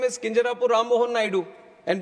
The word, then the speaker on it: Kinjarapu: And my name is Kinjarapu Ram Mohan Naidu. And when some people say Kinjarapu, there might be some problem with them. They can't pronounce it the way I pronounce it.